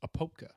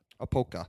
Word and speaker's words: Apopka: I believe the proper pronunciation is Apopka. Apoka. But I could be wrong.